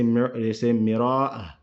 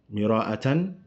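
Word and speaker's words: مرآة: They say مراءة, مراءة, if you were to say it properly. But if you're reading it and you're ending, you end on sukun. That's why it's مراءة. And then, so I want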